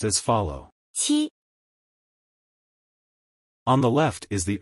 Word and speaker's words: 期: This word is pronounced as follow. 七.